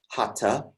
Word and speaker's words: hatha: the word hatha hatha it looks like hatha it's actually pronounced hata so if you want